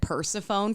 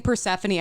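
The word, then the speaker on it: Persephone: So, well, it's like I remember reading myths when I was a kid and I said persafhone for the longest time cuz that's how it looks.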